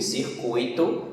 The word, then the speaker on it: circuito: O nome aí, gratuito, intuito, fortuito e circuito, são todos exemplos de paroxítonas com a sílaba forte, tui, e não acentuadas porque